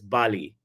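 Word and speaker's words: Bailly: mispronouncing your name it's it's not Bailey it's Bali yeah okay okay all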